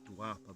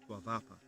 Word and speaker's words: Dvapara: Dvapara cycle, Dvapara cycle, if you look at the real Sanskrit word, how it's said, not Dvapara, but Dvapara cycle.